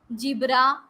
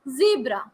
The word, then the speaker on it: zebra: pronouncing it as jo jibra jew jibber all those are wrong that makes a sound of z as i told you earlier it is zebra zebra zoo zipper zoom zig zag yes